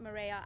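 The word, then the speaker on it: Mireya: with that um so my name is Lieutenant Mara and that is spelled mi re e y a last name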